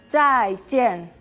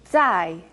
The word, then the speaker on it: zai jian: Otro ejemplo era zai jian, chao. Zai, esa Z que suena como TS, zai. Y jian, la J como una CH sin tanto aire, zai, jian.